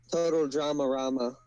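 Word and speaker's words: Total DramaRama: Total Drama Rama is how it's pronounced.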